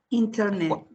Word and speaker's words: Internet: Un nativo, ¿cómo suele pronunciarla? Internet. A ver, repita. NT, sonido de vocal. ¿Dónde ves tú un NT sonido de vocal aquí? En Internet. Ah, NT. Ajá, aquí qué borro, borro la T.